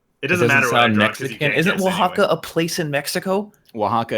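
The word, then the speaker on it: Oaxaca: a x o a o a x a Waka holy hey wakaa I need to be able to spell that cheese to eat it what are you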